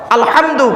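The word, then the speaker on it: الحمد: বলি আলহামদুলিল্লাহি রাব্বিল আলামিন আলহামদু গলার ভেতর থেকে এটা উচ্চারণ করবে নয় আলহামদু এর মানে হচ্ছে সমস্ত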